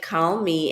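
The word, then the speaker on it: Kahlmi: at call me and call me is pronounced just like call me and it's k-a-h-l-m-i dot my assistant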